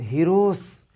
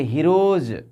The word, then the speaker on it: heroes: जैसे ही ES आ गया तो हीरोस, हीरोस नहीं, उसको पढ़ेंगे हीरोज, ज हीरोज।